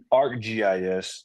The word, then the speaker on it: ArcGIS: How do you pronounce that? Argus? ArcGIS.